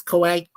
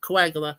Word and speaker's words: Coagula: I'm sorry, I said it. I mispronounced it. Yeah, it's Coagula. Yeah, Coagula.